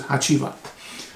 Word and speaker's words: Hacivat: whatever the sequence is and then this is haiat haiat um is the the way right way to pronounce it um and this came out in